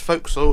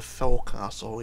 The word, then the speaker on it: fo'c'sle: on the front of the ship remember it's fo'c'sle it's spoked forecastle but it's pronounced to focus on okay I know a lot of ship experts do our parent ship experts still call it the forecastle even though they you know it's not the